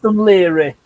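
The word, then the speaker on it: Dún Laoghaire: It's now called Dunleary. Dunleary. It's pronounced Dunleary.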